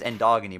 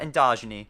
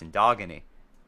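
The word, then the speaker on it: Endogeny: dog and you skip it's pronounced and dog in you by the way it's not in dodging a it's not a dough genie it's in dog aney because it has dog in the name anyway we're gonna interact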